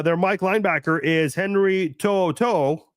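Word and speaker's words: To'oTo'o: Mike linebacker is Henry tooto and yes that is how you say it I actually looked look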